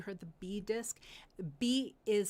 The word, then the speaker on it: bi: Bi is spelled b i.